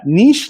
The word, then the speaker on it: niche: livestream right on here so niche like quiche alright alright well this